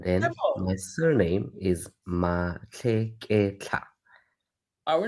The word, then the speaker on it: Matlheketlha: my surname is Matlheketlha.